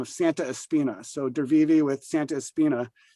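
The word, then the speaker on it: Drwiwy: i it's d-r-w-i-w-y and i asked him how to pronounce it and it was even more confusing than looking at the word but it's dervivi with um an artist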